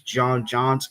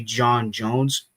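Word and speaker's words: J'onn J'onzz: character he's an amalgam accy to Batman himself Jon Jones is an amalgam which is which is how his morsh name is pronounced some people say it's JN JNS it's actually J Jones and good to know um anyway what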